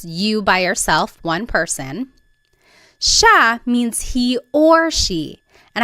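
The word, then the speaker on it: siya: It looks like it should be pronounced sa, but it's actually pronounced sha sha. There are some regions in the Philippines that might pronounce it sa but for the most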